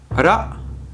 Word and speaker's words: ら: Alors ça se prononce entre un R et un L, vous voyez? Ra, ra, ra. Pas ra. Par contre, on ne roule pas ces kanas comme des R espagnols, hein.